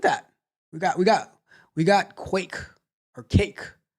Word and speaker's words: Guake: It says it's pronounced cake. I thought it was guac. Thought it was guac, like guacamole, but I guess not.